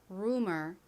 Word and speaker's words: rumor: 앞에서 설명드린 것처럼 보통이라고 발음이 되는데이 단어에서처럼 유가 우 소리가 나는 경우도 있습니다. 발음 연습 같이 해 볼게요. rumor.